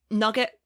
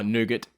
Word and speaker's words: nougat: Nugget, I like nugget or nougat or however you pronounce it. Oh, nougat, actual nougat.